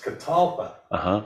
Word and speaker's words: catalpa: I knew there was something deeper, and They're actually misnamed. Botanist who named them mispronounced the word catawba. Catawba. And he thought that because it was a southern tree, and he's the one that registered its genus and species. And he got it wrong as catalpa.